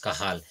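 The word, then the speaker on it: Cajal: a j a l but the pronunciation is kahal and he was the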